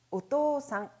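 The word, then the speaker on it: お父さん: 암기 요령 : " 오 -" 와 "- 산 " 이 붙는 한자는 항상 장모음 으로 발음 된다는 것 을 기억 하세요 .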